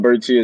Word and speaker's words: Berti: Funny story about Berti is I actually met somebody from Italy with the last name, and I asked him just to see how it's actually pronounced. But he said his last name was he said Berti, so it's actually pronounced Berti.